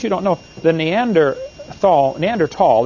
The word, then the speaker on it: Neanderthal: don't know the neanderthal Neanderthal the H is silent Neanderthal man is named